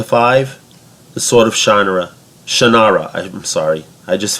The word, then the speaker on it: Shannara: a one to five the sort of genre Shannara I didn't sorry I just found out that that's how you properly pronounce the name the Sword of Shannara gets